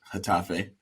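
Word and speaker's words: Getafe: Tafe by the way did you notice hatafe not blessings thank you I appreciate it that's how it's pronounced yes indeed one nil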